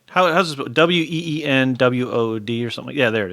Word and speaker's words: Wynnewood: WEENWOOD or something? Yeah, there it is. I found it. WYNNE. And it's pronounced Wynnewood? Wynnewood.